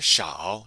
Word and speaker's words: 少: The grammar point we want to focus on here is the adverb 少, pronounced S-H-A-O using your third tone. 少. So when we're using 多 or 少 to express the idea